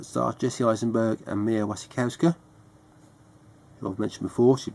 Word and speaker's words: Mia Wasikowska: One of Mia Wasikowska, that's how you pronounce the name.